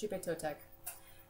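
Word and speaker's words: Xipe Totec: The X in is pronounced, it's not quite like sh, but it's not all the way to like a French G. It's kind of in between. So, it's Shupe Totek.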